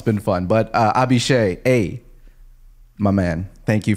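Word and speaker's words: Abhishek: to like it yes speaking of mispronunciations uh abhishe my bad what's up bro the guy you've we've been talking about for weeks his name is not abishi who would have thought I would have thought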